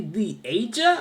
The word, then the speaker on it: Leasia: Leasia Lee or Leasia? Leasia. Yeah. Like Asia with Lee in front of it. Okay. So LE like a little Right. thing and then Asia.